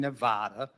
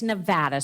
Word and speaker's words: Nevada: information over point in Nevada okay Nevada it's Nevada sir please say it correctly it's Nevada if a